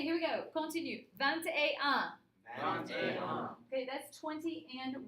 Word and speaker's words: vingt et un: You pronounce the T. Oui, because you have a T and an E side by side, and so it makes it like a liaison.